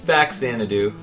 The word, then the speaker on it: Faxanadu: It's Faxanadu. The American version is Faxanadu, but apparently the Japanese version, or the way that you should pronounce the Japanese version, is Fazanadu with a Z.